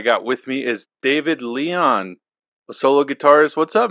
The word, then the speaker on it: Lyon: It's Lyon, actually. It's like the Lyon. Animal.